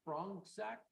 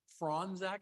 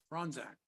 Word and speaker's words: Franzak: Frongzak, come on. All right, have a seat. You are Frongzak? Franzak, C is silent. Franzak.